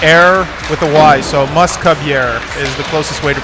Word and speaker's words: Mousque-Bieres: to pronounce our name it is a play on the word musketeer in French mascota and it's pronounced you skip yeah so moose cub and air with a why so Muscovy air is the closest way